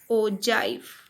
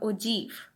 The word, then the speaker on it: ogive: भी कह सकते हैं, दैट इज ओजाइव. ओजाइव या ओजीव. ओके, आप दोनों में से कोई भी प्रोनाउंस कर सकते हैं वर्ड ओजाइव और ओजीव.